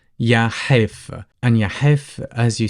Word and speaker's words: يا حيف: The letter Ha, some of you might find it difficult, which is pretty much a stronger version of the letter H. So Ha is pronounced from the back of your throat. Try to close that cavity and try to press or push the air through. So it's Ha. Ha.